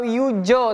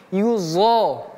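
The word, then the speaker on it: يُظَاهِرُونَ: tebal yuzohiruna walladzina yuzhiruna ini do bukan seperti kita menyebutkan kan zai bukan yuzo atau yujo tapi yuzho yuzohiruna hinya besar rnya pun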